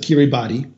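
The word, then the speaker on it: Kiribati: door to French Polynesia is uh kiribas an island nation most people pronounce it kirib body uh it's scheduled to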